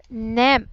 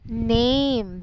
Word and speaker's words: name: Nem. Okay. It is actually a long A. So it should be pronounced as A. So name.